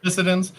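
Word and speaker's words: Fissidens: Okay, I'm going to kill how to pronounce it. Apparently, the Phoenix moss there's 2 types of this moss. It's Physcens. The Physidens? Yep. Physidens. Okay.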